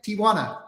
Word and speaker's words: Tijuana: that hey like but people say I put an a after the I and it sounds like Tijuana but when I say it like I'm literally just saying Tijuana Tijuana Tijuana Tijuana I